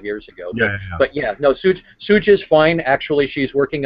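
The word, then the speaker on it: SJ Tucker: S.J. Tucker. Sooj, S-O-O-J Tucker, or S-J Tucker.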